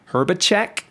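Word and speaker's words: Hrbacek: And that's by Jenny, I believe her last name is pronounced Herbacek.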